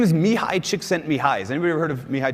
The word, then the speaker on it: Csikszentmihalyi: this this phrase so according to me hi Csikszentmihalyi and then you can say whatever you want